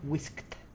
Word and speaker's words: whisked: Remember that if the verb end in voiceless consonant, we need to use the final sound like a T in past tense. Whisk, whisked.